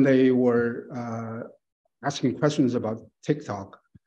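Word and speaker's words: TikTok: were asking questions about tick tock they couldn't even pronounce text out correctly and they pronounce uh pronounce it as a Tic Tac which is uh as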